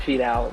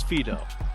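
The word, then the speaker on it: Fidow: McCarthy's favorite player, Ed Fidel, rampaging for Samoa. First of all, if you're going to say his name, say it correctly. It's Fido, and it's Teofilo Fido, okay?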